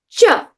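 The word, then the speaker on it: च: Cha, cha. Say cha. Like chips. You know the cha in chips that we love or chocolate? Cha.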